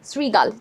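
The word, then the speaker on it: শৃগাল: এটার উত্তরটা হবে তি শ্রীগাল। ঠিক আছে? শ্রী। রফলায় রশি উচ্চারণটা হয়।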